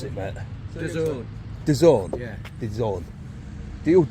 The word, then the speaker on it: DAZN: How do you pronounce it, mate? Dazn.